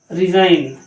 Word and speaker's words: resign: क्या हुआ, ये हुआ रेन, जी यहाँ पे साइलेंट है। RESIGN, रिजाइन, SIGN, साइन।